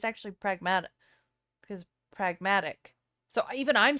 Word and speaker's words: Pragmata: For real though, someone should ask him how you should pronounce pragmatic, because he's saying pragmata. It's just it's actually pragmata, because pragmatic.